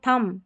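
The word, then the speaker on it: thumb: MB जब रहता है ना, स्पेलिंग के आखिर में देखिए MB आ रहा है ना, तो B साइलेंट है। क्लाइम, थम, कॉम, लैम और बॉम, तो थम, ठीक है, B का उच्चारण नहीं हो रहा है।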